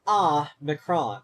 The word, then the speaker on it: Omicron: That's why one is O-mega and the other one is Ah-micron, because the Omega is pronounced O, and the Omicron is pronounced Ah.